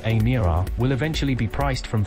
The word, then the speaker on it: Emira: The Emira, pronounced Emira, will eventually be priced from £59,995 and is